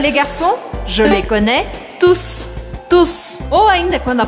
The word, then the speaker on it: tous: Nesta fase, você vai entender a diferença entre tu, T-O-U-T, e tous, T-O-U-S. É importante você saber que em alguns casos eu pronuncio o S no final, e em outros não.